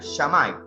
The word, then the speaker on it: Shammai: La casa de Bet Hillel, se escribe H-I-L-L-E-L, y la casa de Bet Shammai, se escribe S-H-A-M-I, no I latina, no Y, sino I latina, Shammai.